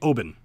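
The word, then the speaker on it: Oban: funny I was watching a how do you pronounce Obon so it's actually open and I met a guy where my father actually my father met a guy that was actually from Obon and he asked him that exact question because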